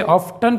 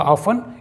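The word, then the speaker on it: often: ऑफन, ऑफन का मतलब होता है अक्सर, कई लोग इसे ऑफ्टन पढ़ते हैं, यहाँ पर टी साइलेंट होगा, ये होगा ऑफन, इसका मतलब है अक्सर।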